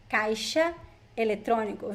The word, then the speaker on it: caixa: An ATM in Portuguese is caixa eletrônico. Very useful phrase for you. So ATM in Portuguese, caixa eletrônico. Caixa eletrônico. The X is pronounced like sh in this word. Caixa eletrônico.